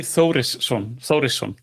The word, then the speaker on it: Þórisson: So, it's Inky Thoris. Okay. Yeah. The first letter is pronounced th. That's the way to pronounce it.